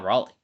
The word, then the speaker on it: Raleigh: pretty steep is Cal Raleigh. uh not pronounced like the South Carolina town, but I do think he is one of the better options specifically from a power perspective.